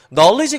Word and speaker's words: knowledge: knowledge는 묵음인 D가 들어가 있죠. 근데 이게 은근 헷갈려갖고 knowledge 이렇게 써버리는 경우가 되게 많아요. 근데 knowledge에서 여기 D가 묵음이지만 꼭 들어가야 되죠.